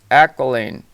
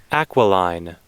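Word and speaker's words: Aquiline: it up let's how I didn't even pronounce it right I guarantee it let's listen aqualine oh aqualine okay so let's get back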